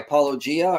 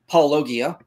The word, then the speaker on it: Paulogia: to a recent video by paulia or as he's known by people who have never pronounced his name paulogia uh we'll be going